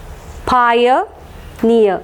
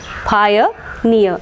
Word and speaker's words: pioneer: What was the rule? Words ending in EE and EER, stress will be marked on the syllable having the suffix ear. So here it is in this particular syllable because this particular syllable has got the suffix EER, near.